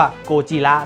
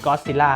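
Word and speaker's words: ゴジラ: Godzilla นะ เขา จะ พูด ว่า โกจิระ นะ ครับ ผม โกจิระ ถ้า เป็น ฝรั่ง ใน ก็ พูด Godzilla นะ ตัว เรา คน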